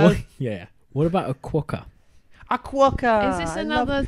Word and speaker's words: quokka: What about a quokka?